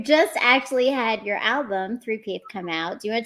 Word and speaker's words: Threepeeth: So the album, the name of it is 3Peath. It's spelled like that.